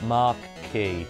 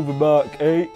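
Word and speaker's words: marque: have private ears just mark key oh go Mark oh pronounced like Mark yeah I thought it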